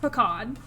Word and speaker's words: pecan: Is it like can or con? It is not pecan. Yeah. No, get that out of here. It's pan. Thank you, Scarlet. It is pronounced pecan.